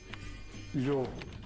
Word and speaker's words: lhobo: Lobo, ou lupo, deu lhobo. Não é? Lino deu lino. Portanto, todas as palavras que existiam em latim, em mirandês, passaram a pronunciar-se com lhe inicial, enquanto que em português se mantiveram com L.